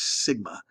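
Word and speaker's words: σ: symbol for you you the way you pronounce this little symbol here is sigma so it's sigma squared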